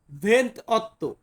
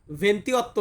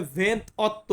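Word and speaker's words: ventotto: এর ক্ষেত্রে আছে এখানে ভেন্ত অত্য দেখুন এখানে কিন্তু ভেন্তি নাই ভেন্তি অত্য না এটা হবে ভেন্ত অত্য উচ্চারণটা কি হবে বলুন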